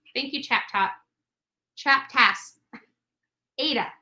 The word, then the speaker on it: Ada: o'clock Eastern Standard Time it's pronounced with a long a Ida oh thank you thank you chat top tasks Ada Ada County I probably said